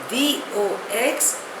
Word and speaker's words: vox populi: Spelling is V-O-X-P-O-P-U-L-I. Pronunciation is vox populi.